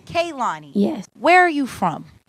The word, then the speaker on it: Kehlani: doing just avoiding it so how do I pronounce your name it's kaani kaani yes where are you from I'm from North